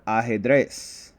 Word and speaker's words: ajedrez: on this word will be on the last syllable. So we have ajedrez, which is chess in Spanish.